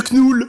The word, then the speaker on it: Knull: chaque fois je l'appelle Knoul. Bah c'est vrai que Ou c'était nul. Knull, tu vois, parce que ça s'écrit K-N-U-L. Donc moi je dis Knull dans ma C'est pas tête.